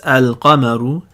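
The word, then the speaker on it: القمر: If you see the notation looks like al-qamaru, where you have a sukoon on the lam and no shadda on the next letter, then you pronounce it like this, al-qamaru.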